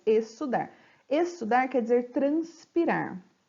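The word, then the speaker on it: exsudar: Você não pronuncia o X, apenas o som do S, estudar.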